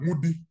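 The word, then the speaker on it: Moudy: And this question arose in the case of Memuna Mudi. Memuna is spelled M-E-M-U-N-A.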